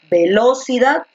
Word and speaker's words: velocidad: con cual encaja mejor cuando tú dices velocidad velocidad velocidad o velocidad encaja mejor cuando pronuncias con fuerza la última sílaba cierto entonces la mayor